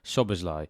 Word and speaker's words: Szoboszlai: have a look at the impact that Dominic shobazly is going to have on FPL and yes